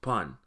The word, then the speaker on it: pan: On in Patwa simply gets a P in front of it, making it pan. This is an open mouth short O and is pronounced pan.